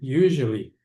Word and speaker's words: usually: prefiro dizer geralmente para usually. Usually e a pronúncia é esse S aqui. Tem som de J.